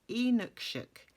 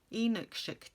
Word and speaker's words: Inukshuk: viewers pedandic planner has very kindly told me how to pronounce the name of the etsy shop i used and it is inukshuk inukshuk japan and apparently inukshuk is